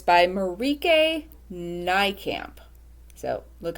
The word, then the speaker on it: Marieke Nijkamp: end of everything the title and it's by Marika nycamp so look how that's spelled I I double checked how it's pronounced uh she is from the Netherlands so yes it's marike NY camp um I first read her first book that